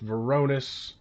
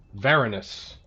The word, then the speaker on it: Veronis: ram this door with with varonis sorry veronis right emphasis on the first